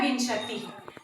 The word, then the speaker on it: विंशति: तो वो आपको याद रखना है कि व में छोटी की मात्रा और फिर अंग की मात्रा लगाना है, वी में, तो वो प्रोनाउंसिएशन होता है विंशति।